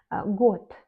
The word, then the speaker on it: год: Год, год, une année, on écrit год, mais on lit год.